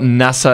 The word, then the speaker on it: Nasser: So it's not NASA as in NASA space station, or Nasser? Well, I say like the space station to non-Arabs.